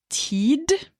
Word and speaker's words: tid: time and that is ted the d can be pronounced or it can be silent people who use it